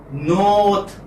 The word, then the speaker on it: north: And as I told you earlier, R is not pronounced in English words, especially when it occurs in the middle or at the end.